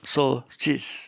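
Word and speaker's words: σώσεις: Tapi cara membacanya sosis. Cara membacanya adalah sosis.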